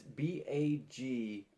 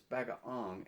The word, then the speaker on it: bagoong: it right so that's b-a-g-o-o-n-g it doesn't it's not pronounced the way it sounds it's bag of ong and not bagoon so uh just kind